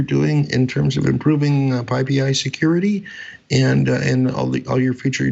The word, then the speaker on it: PyPI: That was William Woodruff and Nicole Harris talking to us about PyPI security.